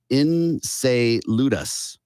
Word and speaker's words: Enceladus: And it is pronounced Enceladus, but it's spelled Enceladus.